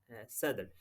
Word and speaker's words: صدر: ہے صدر کی جمع، جسے ہم اگر صحیح پرونانس کریں تو یہ صدر لفظ ہے، کیونکہ صاد کے اوپر زبر ہے اور آگے جزم ہے دونوں، تو یہ صدر بولا جاتا ہے۔ تو صدر کہتے ہیں